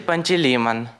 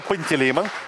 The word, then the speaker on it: Пантелеймон: Целитель Пантелеймон. Великолепный ответ, даже ударение правильное. Пантелеймон.